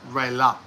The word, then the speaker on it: Raela: The spelling is Raela. Raella, but it's pronounced Raila.